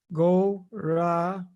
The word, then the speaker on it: Gauranga: We divide Gauranga into 4 syllables for this meditation. Go-ra-ang-ga.